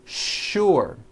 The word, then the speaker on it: sure: What you may not know is that there are some words in English that are written with the letter S, but are pronounced with the SH sound. Words like sugar and sure.